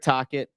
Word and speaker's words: Tocchet: of the week, and the name happens to rhyme with rocket. I think it's going to be a hated hire. We'll get there in a second. Jay Grabby says, Russ, tell me Tocchet isn't the guy.